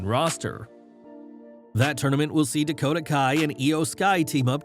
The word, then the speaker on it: Dakota Kai: During Raw, Bayley introduced her new partners but tripped over her words, calling Dakota Kai Dakota Sky. Bayley at least owned the moment, telling the fans, "I know I said it wrong, you dummies."